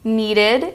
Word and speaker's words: needed: Needed is a new syllable sound.